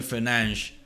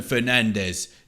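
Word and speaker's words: Fernandes: have 93 rated flashback Bruno fernan that is the correct pronunciation you know what let me go back to my pronunciation Bruno Fernandez there we go I am English but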